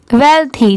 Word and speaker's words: wealthy: इसको बहुत लोग वेल्थी भी पढ़ते हैं और वेल्दी भी पढ़ते हैं, आप दोनों में से कुछ भी प्रोनाउंस कर सकते हैं, वेल्थी और वेल्दी दोनों ही पढ़ सकते हैं।